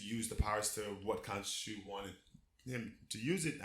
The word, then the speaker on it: Khonshu: Kunishi or whatever. Yes. Kunishi, I can't pronounce it. Khonshu. Khonshu. Yeah, there it is.